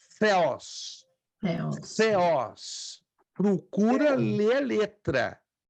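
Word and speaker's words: θεός: Não é teos, é theos.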